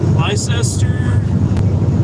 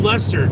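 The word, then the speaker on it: Leicester: Uh, Andrew says, "Hello from Liester." I don't know how I pronounce it. Sorry if I butchered that. Um, oh, Lester.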